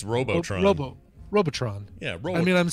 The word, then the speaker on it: Robotron: to know he says Robotron you only it's not it's neither its its Robotron robo with an a Robotron I think it's robotruck no bow Robotron yeah I mean I'm